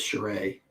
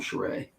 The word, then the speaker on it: Charest: Another guy would be Travis Charest or Travis Karst, depending on who you're asking. He would say his name is Charest, so I'm going to call him Charest.